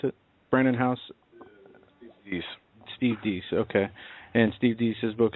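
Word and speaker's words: Deace: Both are authors, and Steve, how do you pronounce it? Brandon House? Steve Deese, okay.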